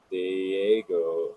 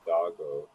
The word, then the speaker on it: Dago: It is not Diego. I believe it is Dago. So yeah, well, tomato, suck it no, I almost on that believe point. that's actually Dago is how he pronounces it too.